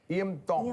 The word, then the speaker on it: Tongi: Tongi. Tongi. Tongi. You pronounce a T's like a D in the Tongi culture.